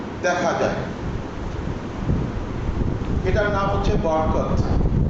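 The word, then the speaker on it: بركة: এটার নাম হচ্ছে বরকত। আরবি উচ্চারণ হচ্ছে বারাকা।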